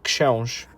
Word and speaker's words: Książ: RZ is actually J. So it's Książ.